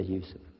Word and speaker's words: Yusuf: My name is Yusuf. Can you say Yusuf? You say Yusuf.